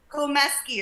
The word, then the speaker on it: Komesky: Komisky, not Komsky. Okay, Komisky. How do you say your last name? Komisky? Komesky. It's actually Irish, of all things.